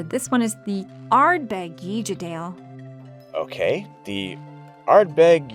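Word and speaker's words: Uigeadail: Professor, this one is the Ardbeg YEE-ja-dale. Okay. The Ardbeg YEE-ja-dale.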